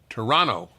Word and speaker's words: Toronto: you say in Toronto Toronto they don't pronounce the second T you're from Toronto by